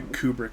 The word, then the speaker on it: Kubrick: up as, and apparently KBRK is Kubrick. So Okay, I will try to do Kubrick, because KBRK is kind of a mouthful, and Kubrick is 2 syllables. Kubrick, okay, like Stanley Kubrick?